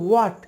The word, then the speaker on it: what: Actually এটা হট না, এটা হচ্ছে ওয়াট, WHAT। এখানে WAT এতটুকুই উচ্চারণ হবে, ভিতরে যে H রয়েছে সেটা সাইলেন্ট থাকবে।